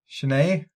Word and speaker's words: Chennai: And then for mine, it's going to be Tokyo and Go ahead, pronounce it, Ed. You all looked at me like I know what I'm talking about. Chennai.